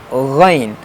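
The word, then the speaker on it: غ: Ghain, like kha. Kha and ghain, they have same pronunciation place.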